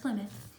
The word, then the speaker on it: Plymouth: by early English settlers called Pilgrims, that is Plymouth. Plymouth, not Plymouth. I know that's what it looks like, but it's pronounced Plymouth.